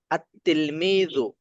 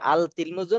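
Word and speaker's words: التلميذ: সরাসরি পরবর্তী শব্দটাকে ধরছে সেটা দেখেন আত আত আত তিলমিজু দেখছেন এখানে লামের উচ্চারণ হয়েছে আল তিলমিজু না আতলমিজু আতলমিজু আতলমিজু আরজুল আরজুল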